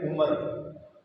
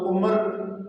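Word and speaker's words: عمر: अमर और उमर दोनों एक ही तरह लिखने में आते हैं, ऐन मीम रा, लेकिन फ़र्क कैसे करेंगे कि इसको उमर पढ़ना है और इसको अमर पढ़ना है। जिस ऐन मीम रा के आखिर में वाव हो उसको आप उमर नहीं पढ़ेंगे, अमर पढ़ेंगे।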